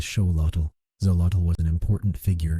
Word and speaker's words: Xolotl: Within this cultural landscape emerged the legend most often associated with the axelottle, the legend of a god named Zolotal, pronounced roughly as Sholottal.